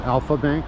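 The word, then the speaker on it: Альфа-Банк: That's pronounced Alpha Bank, and it's a Russian bank.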